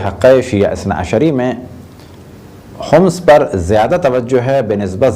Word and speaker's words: خمس: عام طور پہ خمس کہا جاتا ہے، لیکن جو صحیح تلفظ ہے وہ ہے خمس۔ اگر کسی چیز کو